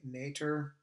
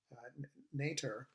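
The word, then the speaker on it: Noether: theorem or let's say the german pronunciation i guess it's o with a with umlauts over it so it's like uh nature uh theorem uh so and her name is uh emmy nature and this this was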